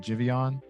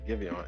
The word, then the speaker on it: Giveon: But yeah, it has Daniel Caesar and it has Daniel Caesar and Jivion. Oh, okay. Is his name Jivion for real? Yeah, I think that's how you pronounce it. I thought it was Giveon.